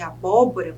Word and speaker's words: abóbora: eu chamo de paroxítona quando a antepenúltima sílaba é a sílaba tônica é a sílaba mais forte da palavra que é o caso de abóbora por exemplo eu chamo a